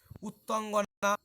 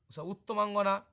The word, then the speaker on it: উত্তমাঙ্গনা: সত্ত্বা মানে শুনে, তু মানে কিন্তু, ভুবন বৃত্তান্তম এই ভুবনের বৃত্তান্ত, উত্তঙ্গনা উত্তমাঙ্গনা, ভুল হচ্ছিল আমার উচ্চারণ, উত্তমাঙ্গনা, উত্ত এহস্য রয়েছে, উত্তমাঙ্গনা অর্থাৎ রমণী শ্রেষ্ঠা।